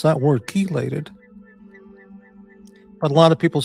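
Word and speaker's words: chelate: The ch in chaos is pronounced as a k. So keelate is probably pron I think it's pronounced keelate.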